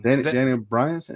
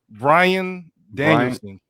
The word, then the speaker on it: Bryan Danielson: Daniel Bryanson, is that how you say it? Daniel Bryanson. Bryanson, yeah. Bryan Danielson. Danielson. Bryan. Daniel Bryan, yeah, whatever. Bryan Danielson. Thank you.